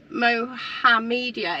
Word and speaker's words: Mohammedia: Mohammedia. It is. Look, it's like Mohammed, but he's got a really good media system.